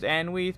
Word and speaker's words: Anweath: Plus pronunciation is Anweath, but I suspect that may be a mouthful. I recommend you call me, as my true dialect would make your head explode if it attempted to be pronounced. Hello.